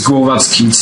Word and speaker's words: Głowacki: Yes, it's Głowacki. I'm actually Polish, so there's this special L with a slash that is pronounced like W in wow.